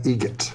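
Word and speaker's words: Eget: Adam Egget. Egget. Spelt differently. Like the bird. That's Egret. Do you know what Adam Egert has in common with a guitar player? Adam Egget has in common with a guitar player.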